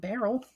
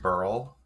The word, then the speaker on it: beryl: Oh, we can talk about beryl. Limonite? Beryl. Beryl. I should remember it's pronounced like Earl.